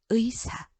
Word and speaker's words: 의사: 자, 1번은 의라는 이중모음이 자음을 첫 소리로 갖고 있지 않아요? 그러면 어떻게 발음해야 되죠? 그렇죠. 의사.